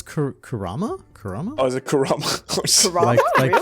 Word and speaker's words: Kurama: have Fox and spirit no it's Kurama Karama oh is it